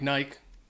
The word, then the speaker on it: Nike: what it looks like it looks like but it's not uh it's actually Nike uh from the old Greek goddess actually Nike and because it's an American company I guess this is the correct pronunciation looks like Nike but we say Nike number seven Adidas uh